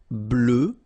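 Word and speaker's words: bleu: form feminine form GRE blue blue so same thing that we had for Noir you just add this at the end but then you don't pronounce it blue blue all right so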